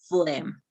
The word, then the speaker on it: phlegm: emma thesis and note the known flame is pronounced phlegm just as we said okay i don't know